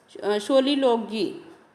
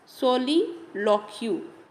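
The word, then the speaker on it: soliloquy: सोलिलोगी, इसको what ever you want to pronounce, ये जी नहीं QUY है, सोलिलोक्यू, ठीक है।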